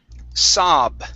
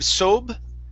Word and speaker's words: sob: have the word whoops saab instead of sobe okay it's an ah sound here saab okay try that one